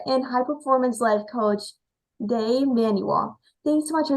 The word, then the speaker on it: Dai: I thought I'd better let you know that now because it's a weird Welsh name and it is pronounced Dai, even though a lot of people say Day.